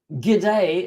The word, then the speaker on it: g'day: probably say morning g'day so actually gide is a short way of saying good day good day but Australians is sometimes